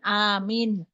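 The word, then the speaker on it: آمين: Yang tadi yang pertama kan a min, tapi menurut di sini itu a-nya panjang.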